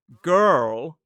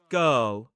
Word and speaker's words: girl: Now, notice that in a modern British RP accent, in the words word, first world, and girl, we do not pronounce the R. It's not a sound, it's so it's not girl, it's girl in a modern British RP accent.